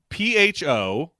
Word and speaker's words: pho: Not called Thai food near me, but it's called PHO. How do you pronounce that dish?